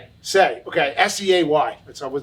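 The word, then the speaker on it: Seay: brian how do you say brian's last name say okay s-e-a-y that's i was never sure if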